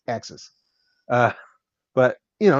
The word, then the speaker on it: AXYZ: It's it's pronounced a Axis. It's it's pronounced Axis. AXYZ. That's how it's pronounced. Axis.